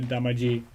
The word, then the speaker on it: Damacy: The last time we can remember that happening was Katamari Damacy. Why do we pronounce it like that? It's same name in English. We didn't need to go with the Damaji pronunciation.